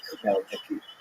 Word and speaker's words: Khmelnytsky: And it's sometimes spelled with Roman characters with the Polish spelling, making it look something like Khmelnytsky. It's actually pronounced Khmelnytsky with a guttural at the beginning.